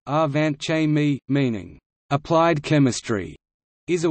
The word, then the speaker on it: Angewandte Chemie: angahuan chemi german pronunciation our vant Jaime meaning applied chemistry is a weekly peer-reviewed scientific